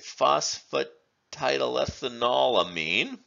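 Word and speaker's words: phosphatidylethanolamine: also a quaternarium mean and polar we would pronounce it phosphate tidal ethanolamine and finally the third example that we're showing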